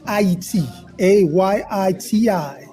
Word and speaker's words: Haiti: a Yi TI this is the correct way to say Haiti well we're getting education